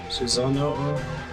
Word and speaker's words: Susanoo: from singing oh but it's pronounced Susan oh oh Susanoo we've seen several other